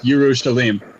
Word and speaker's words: Yerushalayim: It's Yerushalayim. Shalim. Okay. Yeah. It's just the proper Canaanite pronunciation of Jerusalem.